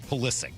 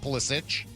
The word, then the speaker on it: Pulisic: Pulisic, not Pulisic. No. Hard C. Looks like it should be Pulisic.